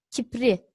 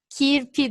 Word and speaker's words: kirpi: son kelimemiz bir hayvan kipli doğru mu Hayır tabii ki de kirpi doğrusu Süpersiniz geçiyorum diğer özelliği